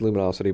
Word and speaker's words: Lumino City: Yeah, I think it's pronounced Luminosity, but it's 2 words, Lumino City.